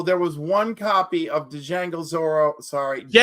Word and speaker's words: Django: YOU SAID TO JGO AND then you corrected yourself and you still said to Django. The D is silent.